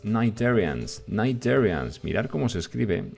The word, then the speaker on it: cnidarians: Cnidarians. Mirad cómo se escribe. Esta C no suena y se dice cnidarians.